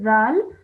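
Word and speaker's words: ذال: Okay, just remember that this is a zal. So the is pronounced as you take your tongue and you touch it to your top teeth.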